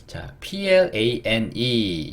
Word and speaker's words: plane: 자, plane 여기도 마찬가지죠. 요렇게 돼서 pull, 요렇게 돼서 lay, n은 니은, 이는 묵음.